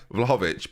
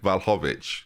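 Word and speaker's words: Vlahović: to different places people i really know that i don't pronounce the l probably at the start of the vlog i'm saying vlhovic but it sounds like i'm saying valhovich i'm not saying val i'm saying vlad but my vlog is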